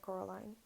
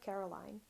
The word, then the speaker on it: Coraline: They kept saying Coraline, not Caroline. Not Caroline at all.